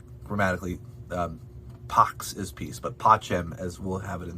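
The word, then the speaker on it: pacem: ah that's it um the letter c in many cases is pronounced as a cha sound like a ch specifically cheli which is heaven and pachem which is peace grammatically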